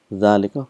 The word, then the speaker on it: ذلك: So we've learned that hadha and dhalika is one of those words where it is pronounced but it is not written.